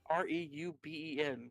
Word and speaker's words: Reuben: How do you pronounce that? Hold on. Let me look him up. Reuben? R E U B E N That's Reuben.